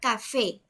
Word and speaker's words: café: palabras sobre estructuras acentúan la palabra café la sílaba tónica este la última sílaba y si está en la última sílaba quiere decir que es una palabra aguda y se va a